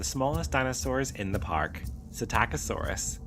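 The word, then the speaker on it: Psittacosaurus: Satacosaurus, pronounced Sit Taco, living during the early Cretaceous period around 120 million years ago.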